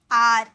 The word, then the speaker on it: are: इसकी प्रोनाउंसिएशन पे जरूर ध्यान दीजिएगा, अगर आप इसे पढ़ोगे ना तो अरे लिखा हुआ है, लेकिन इसे बोला जाता है आर।